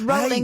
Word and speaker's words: Rowling: should have a half a point because he pronounced it wrong it's rolling as in Rolling ston did you see did